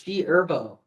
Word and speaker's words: G Herbo: The H is silent. It's G Herbo.